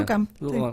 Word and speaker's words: Duchamp: Y a partir del capítulo 5, este físico que es Duchamp, ¿cómo se pronuncia? Duchamp.